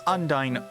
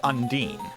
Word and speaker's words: Undyne: elephant into the room you can pronounce undyne as undyne or undine or undyne you know all the